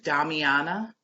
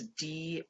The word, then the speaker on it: Damiana: Yes, there's Damiana. Damiana. Yep, it's Diama. Wait, I'm sorry, Diamana, Damiana, and nettle root and sour sop.